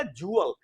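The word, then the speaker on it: jewel: का मामला है, लेकिन प्रोनाउंसिएशन रूल ये है कि ये EW मिलके ऊ बनाएंगे, तो ये हो गया जूअल। जैसे जू होता है ना, ये होती JEW जू, और फिर उसमें EL तो जूअल, और फिर इसी तरह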